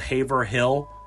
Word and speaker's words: Haverhill: And yes, it's spelled Haverhill, but this is New England, so we say Haverhill.